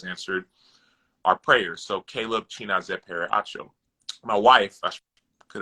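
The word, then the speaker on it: Chinazaekpere: His name is Chinazepere. Say it again. He says it Chinazepere. I'll spell it for you.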